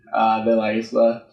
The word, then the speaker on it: de la Isla: So it's like the regular pronunciation of the, THE, and then La Isla.